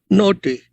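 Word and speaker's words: γνῶθι: Noti. That notim is spelled G-N-O-T-H-I. Noti. And that same N-K-N sound is there.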